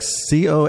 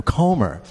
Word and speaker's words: Comer: So I always pronounced it Comer, and people would be like Colmer. I'm like, no, Comer.